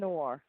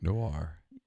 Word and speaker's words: Noir: No, it is a Pinot Noir. See, whoa. The correct pronunciation. See, Neil, is it necessary to Noir?